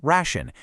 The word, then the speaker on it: Ration: Now, Ration, again, pronounced Ration, is honestly the perfect test case for this